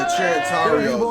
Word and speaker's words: Trinitarios: Oh, the Trinitarios.